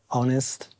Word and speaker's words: honest: Yeah, because you have a H, but you don't pronounce it in that case. No, you don't. Okay. It's one of the 5 words that you don't pronounce the H of. Yeah. The others, like hour. Yeah. Honest. Yeah. And I don't know what else. Then honor. Honor.